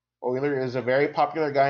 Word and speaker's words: Euler: Euler is a very popular guy in math, and you have to pronounce his name correctly. So you pronounce it like Euler, O-I-L-E-R, but it's spelled, differently.